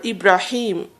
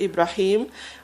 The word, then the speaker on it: Ibrahim: And so Abraham, or Ibrahim is his Arabic the way his name is pronounced originally in Arabic, Ibrahim or Abraham or Avram, as some Jewish people call him.